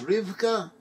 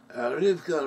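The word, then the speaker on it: רבקה: son of abraham married rebecca in hebrew rebecca's pronounces rivka rivka rebecca she was baronna first so isaac prayed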